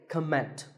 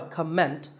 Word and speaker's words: comment: heard many speakers say comment now whether you use this word as a noun or as a verb the first syllable is always calm so it's never a comment it's a comment word number 11 is